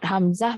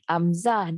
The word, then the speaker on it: Hamzah: takia masuk lagi tanah sebutlah Ham tapi sebut Hamzah bukan Amzah di Hamzah Nikita dari